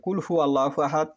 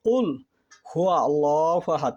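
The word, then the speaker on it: قل هو الله أحد: যেমন সূরা ইখলাস, অনেকে যে প্রথম আয়াতে যে ভুলটা করে ফেলে, যে কুল হু আল্লাহু আহাদ, এটি মূলত ভুল। এটি এভাবে যে আল্লাহর নিয়ামতকে পরিবর্তন করলো তার শাস্তি ভোগ করতে হবে, এবং সেখানে উচ্চারণ করতে হবে কুল হুয়া আল্লাহু আহাদ, সেখানে হুয়া শব্দটা আছে।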